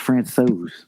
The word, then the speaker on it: Francouz: His name being pronounced Francouz.